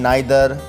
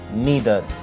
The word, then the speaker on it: neither: कई लोगों को डाउट होता है कि इसकी करेक्ट प्रोनाउंसिएशन क्या है, नाइदर और नीदर। तो मैं बताना चाहूँगा आपको कि अमेरिकन प्रोनाउंसिएशन इसकी नीदर है और ब्रिटिश प्रोनाउंसिएशन इसकी नाइदर है।